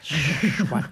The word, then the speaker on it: SWAC: You pronounced it wrong. I know. SWAC. Schwack. You gotta go schwack.